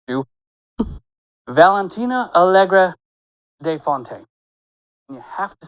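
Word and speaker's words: Valentina Allegra de Fontaine: saw as let let me make sure and pronounce her name correctly because she will correct you. Valentina Algra de Fontaine.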